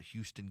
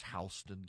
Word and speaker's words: Houston: They've got Houston County, but it's Hston County.